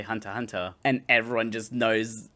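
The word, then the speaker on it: Hunter × Hunter: Much like uh Hunter Hunter, even though it's written with an X in the middle, you're just supposed to say Hunter Hunter.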